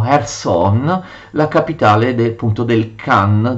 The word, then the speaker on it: Kherson: la capitale dei Khazari, Kherson che gli ucraini pronunciano Kherson, la capitale appunto del Khan dei Khazari.